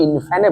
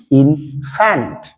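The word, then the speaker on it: infant: আর বলিস না ছেলেকে ইনফ্যানে ভর্তি করেছি ইনফ্যান বলে কিছু নেই ফ্যান্সি আছে ফ্যান্ট আসলে কথাটা কি ইনফ্যান্ট কথাটা ইনফ্যান্ট আরো কথাটা কথাটা লিপস্টিক নয়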